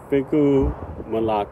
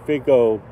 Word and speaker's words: figo: flavor I'd say again figu now I'm trying to learn Portuguese and I would say Figo previously but um the O should be pronounced as U so figu mulatu and look at the